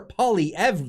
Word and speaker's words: Poilievre: their new party leader pierre pauly ev that i now can pronounce because i've been told in the comments that i was doing it wrong the whole time liberal mps are